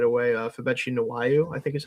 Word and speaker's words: Febechi: It is FEBECHI. So like Betchy.